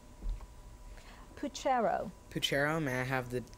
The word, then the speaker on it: puchero: Puchero, may I have the definition, please? A Latin boiled dinner of or stew containing beef, sausage, bacon, and various vegetables. Puchero.